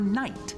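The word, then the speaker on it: knight: begins with the right letter, but the letter is silent. For example, A is for isle. Isle. K is for night.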